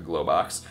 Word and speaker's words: Globox: one good for this mess yeah that's actually pronounced a Globox it's funny how they just took a well